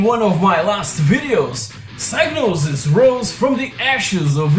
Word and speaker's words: Psygnosis: Psygnosis is the correct way to pronounce it.